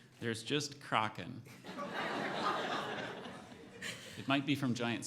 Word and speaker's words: Kraken: Alternate pronunciations. There's just Kraken. It might be from giant squid sightings. Oh, origin? It's from Norwegian. My Spanish is not helping in this situation. Kraken.